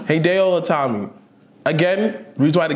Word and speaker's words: Hideo Itami: Heitalgi. I forgot this nigga's name. What? How you say his name? Hideo Itami.